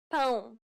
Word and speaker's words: pão: It is similar to the ow sound in English, but with nasality. Saying the word pound repeatedly may sometimes help with pronouncing this sound.